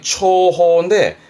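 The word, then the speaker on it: 重宝: 발음은 초입니다. 뒤자가 보자라 보배보자 보물을 말하지요. 그래서 발음이 초호인데 말 그대로 중요한 보물, 귀중한 보물을 말하겠죠.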